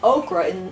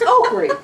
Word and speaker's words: okra: was 22 before I knew it was okra instead of O I was looking in the grocery store and I'm like they're spelling that wrong it's oy I always thought it